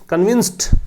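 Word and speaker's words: convinced: That MPs आर far from कन्विंस्ड। कन्विंस्ड, ये कन्विंस्ड है, टे लगेगा लास्ट में, डे नहीं लगेगा, डी का उच्चारण नहीं है, टी का उच्चारण है।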